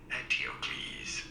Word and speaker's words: Eteocles: It is generally pronounced as Eteocles, although Get fucked.